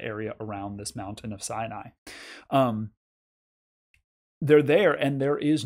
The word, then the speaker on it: Sin: It is spelled like sin, and I said it as sin. It's probably actually more like Sin, as in Sinai is one of the mountains in this Sin area.